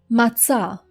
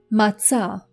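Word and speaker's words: מָצָא: This word might be a little bit more difficult for you to pronounce because in English, you don't really have any letter for this s sound. But try to think of pizza or cats.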